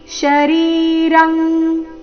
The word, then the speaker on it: ಶರೀರಂ: ಮೊದಲು ಶ್ರೀ ಭಗವಾನು ವಾಚ ಇದಂ ಅನುಸ್ವಾರದ ಉಚ್ಚಾರಣೆ ಮ ಶರೀರಂ ಶರೀರಂ ಇಲ್ಲಿ ಅನುಸ್ವಾರದ ಉಚ್ಚಾರಣೆ ಕ ವರ್ಗದ ಅನುನಾಸಿಕದ ರೀತಿ ಶರೀರಂ ಕೌಂತೆಯ ಕ್ಷೇತ್ರ ಮಿತ್ಯ ಕ್ಷೇತ್ರ